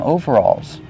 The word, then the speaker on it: overalls: It's like two words, over and all together. Overalls. Over. Use a long O sound like no and go. Over. Alls. Use the aw sound like ball and call.